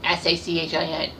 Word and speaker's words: Sachin: And, you know, his first name is Sachin, S-A-C-H-I-N. But, of course, I have terrible pronunciation skills, so I'm going to let Wikipedia tell you his name.